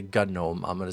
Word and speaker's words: GNOME: Oh, by the way, gnome. It's not GNOME. I'm not going to say GNOME. I'm going to say gnome. Because where I come from, it's called Cape Breton, we pronounce the G silently.